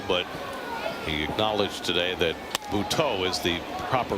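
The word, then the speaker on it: Buttó: However, there is an accent both on the E of Jose and the O of Butto.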